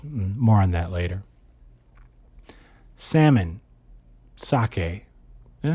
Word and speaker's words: sake: Sake and I don't know if it's pronounced sake or saki like the the drink, but s a ke.